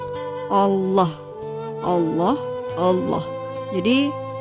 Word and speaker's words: Allah: Yaitu harus membaca huruf lam pada lafal Allah itu dengan tebal, yaitu dengan mengangkat semua lidah dan menekankannya ke langit-langit atas sambil menekankan suara yang cukup kuat. Allah, Allah, Allah.